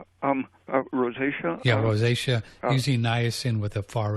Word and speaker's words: rosacea: say the r a c um rosacea yeah rosacea using nasin with a far end fored sauna